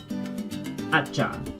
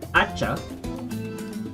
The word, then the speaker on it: hacha: Using the H consonant, and remember the H in Spanish is silent. We have un, hacha, an axe.